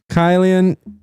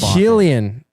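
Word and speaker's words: Kylian: Kate, so you got the first name wrong. It's Keian. Killian.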